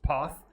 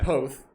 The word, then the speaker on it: Poth: Everyone thinks it's it it's pronounced poth because it's p o t h but it's both.